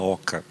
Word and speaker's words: oca: importante como é numa oca né E numa oca ou OC né seria a pronúncia correta em Guarani a a Ok como